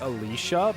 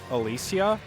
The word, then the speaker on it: Alicia: they in the game they all kind of say her name like Alicia but it's Alicia and now it's getting